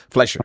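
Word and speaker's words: Fleischer: The 1930s animation style of Walt Disney Steamboat Willie and Max Flesher. Pronounced that right? Fumi games. Flesher.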